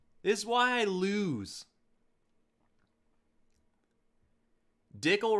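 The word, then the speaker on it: Dickel: is why i lose dickle rhymes with pickle and they both taste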